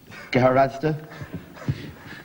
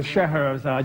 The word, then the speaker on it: Scheherazade: Scheherazade. No, Scheherazade. You knew it, but you didn't. Couldn't pronounce it.